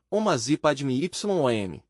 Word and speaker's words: Om Mani Padme Hum: Um mantra para despertar a intuição se escreve assim, Om Mani Padme Hum, e se pronuncia assim, Om Masi Padme Yom.